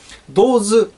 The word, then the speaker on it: DOES: あれ、なんかダズじゃなくて、なんかドーズって読むんですね。